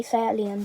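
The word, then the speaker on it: SEAT León: I say Seat Leon, but whatever.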